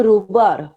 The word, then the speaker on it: রাবার: রুবার বললেন। হ্যাঁ, রিকন বল, রিকল বল। ম্যাম রুবার, কি? একটা রুবার, রুবার রাবার। রাবার, উচ্চারণটা ভুল করছিস, রাবার, ঠিক আছে।